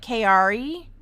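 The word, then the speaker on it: Chiari: There's a lot of, it's pronounced KRE, like more like KRE, type 1 malformation.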